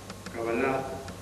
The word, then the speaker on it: cabalá: la cábala O cabalar la palabra cabalá con acento a la última sílaba con todas las palabras de la Biblia idioma antisemita que se sitúa siempre hacia atrás en las últimas sílabas significa tradición y transmisión